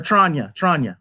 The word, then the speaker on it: Tranya: Or Tranya. That's how you pronounce it.